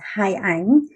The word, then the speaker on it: Hai Ang: hai ang and the first name is haiyang so yeah i agree it's not a hard name to pronounce it's just very confusing because it has a space in the middle so people think of it as two words and then when i